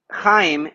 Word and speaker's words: Chaim: And so Chaim is my name. Now, and so your neighbor has to feel it on their face. Chaim. Okay. Then you know you're saying it right.